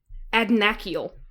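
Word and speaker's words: Adnachiel: Listen to his Adnakiel is how his VA pronounces it.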